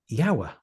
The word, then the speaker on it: YOWAH: How do you spell that? So I said, it's YOWAH, YOWAH.